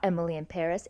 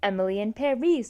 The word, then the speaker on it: Emily in Paris: I saw a link and I told Noah about it on BuzzFeed, and it was like, it's not Emily in Paris, it's Emily in Paris, so it rhymes.